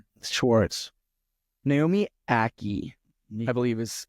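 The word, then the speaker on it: Ackie: Naomi Aki, I believe is how you would pronounce That's it.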